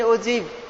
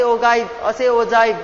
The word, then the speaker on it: ogive: Graphical methods of representing frequency distribution: histogram, frequency polygon, and ogive, or say ogive, different ways of pronouncing it, right?